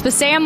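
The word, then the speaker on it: Bassam: to pronounce my name it's Bam like ham but I don't eat ham so I thought that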